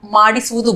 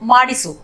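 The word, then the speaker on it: ಮಾಡಿಸು: 'गेट it done' को 'मादिसु' कहते हैं, यानी ' गेट इट डन': मादिसु, मादिसु। बातचीत के दौरान हम ' माडसु' कहेंगे, इसलिए यहां भी हम ' इ' स्वर ध्वनि को छोड़ देंगे और 'माडसु', ' माडिसु' कहेंगे।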